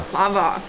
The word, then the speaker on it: baklava: I thought you called this baklava. At least that's what we say in my house. And the waiter just corrected me. Apparently it's Baklava. Baklava. Baklava.